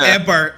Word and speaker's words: Eibhear: By the way, it's not ever. It's ever. Yeah, it's ever. I It's apologize. spelled Eibhear. It's Irish for granite, but it's been pronounced ever, like EVER.